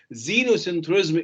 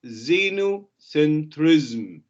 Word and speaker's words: xenocentrism: it is called xenocentrism xenocentrism is pronounced with a z at the beginning but it is not written with a z it is written with an x okay xenocentrism what is xenocentrism xenocentrism